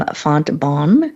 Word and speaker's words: Fontbonne: Louis University, an MBA from Fontbonne University. Am I pronouncing that correctly, Pat?